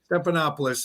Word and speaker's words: Stephanopoulos: This George Stephanopoulos, how do you pronounce his name? Stephanopoulos.